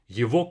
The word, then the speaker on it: его: It can be его кружка, his cup. Его мама, his mom, etc. Его. Even though it's spelled as E-G-O, we don't say его, we say его.